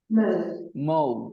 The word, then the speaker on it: mauve: mauve. It is pronounced mauve.